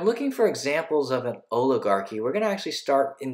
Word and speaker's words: oligarchy: might have power it's a kind of a strange word it's pronounced oligarchy and then oligarchy is just